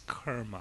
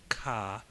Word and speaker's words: karma: making the first mistake it's Kera right we don't use the long a it's not ka it's Kera it's a short a but so a little